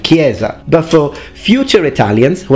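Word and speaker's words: chiesa: and crazy I mean everyone knows it's pronounced Gamba and kiesa but for future Italians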